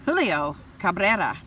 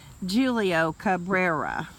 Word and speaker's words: Julio Cabrera: Julio Cabrera, or pronounce the American or English way, Julio Cabrera, attributed that philosophers have